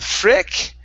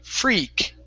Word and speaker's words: freak: was just fine uh give me a good long e sound instead of freck it's e free freak freak good so let's try